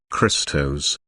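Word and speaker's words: Χριστός: from the Greek word Christos meaning the anointed this can be translated as the Messiah phonetically the Greek word sounds like the word Crystal this is referring to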